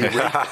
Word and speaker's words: ripe: But when you say it in the way that it would have been pronounced in the 15th century, it would be, and hour by hour we rape and rape, and hour by hour we rut, and thereby hangs a tale.